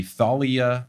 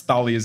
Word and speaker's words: Thalia: They do pronounce Thalia's name wrong. They call her, the kids call her Thalia. And then in the movie, they start calling her Thalia. There's lots of disagreements about how to say the name, but Rick, the guy who wrote it, says Thalia, so I go with that.